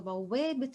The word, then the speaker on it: بوابة: Now notice in the previous one, bawwābet, I didn't really pronounce this one, the ta at the end.